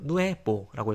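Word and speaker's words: nuevo: 그래서 아뇨라고 읽으면 되고요. 누에보 마찬가지로 누에보라고 읽으면 되고.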